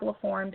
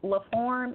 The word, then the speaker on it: LaForme: So it's pronounced form like F-O-R-M, but in French it's spelled F-O-R-M-E.